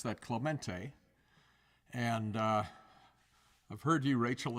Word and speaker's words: Clemente: You pronounce that Clemente.